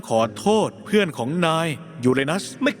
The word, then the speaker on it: ยูเรนัส: ฉัน เอง ยูเรนัส และ ไม่ อย่า อ่าน ว่า ยัว เอนัส มัน อ่าน ว่า ยูเรนัส มี ดาว เคราะ หลาย